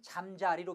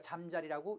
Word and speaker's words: 잠자리: 자, 다만 잠자리는 하늘 날아다니는 잠자리는 소리의 첨가가 없으니까 그때는 잠자리로 발음하셔야 합니다. 잠을 잘 자리는 잠자리, 소리의 첨가가 있고요. 반면 곤충 잠자리는 소리의 첨가가 없으니까 잠자리라고 읽으셔야 합니다.